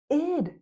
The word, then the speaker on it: it'd: It would itid. That's the best way to pronounce it. ID. Just like the word hid.